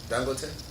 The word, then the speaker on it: Dangote: Dangote. What's the name? Dangote. Dangote? Yeah. That's how you say it? Dangote?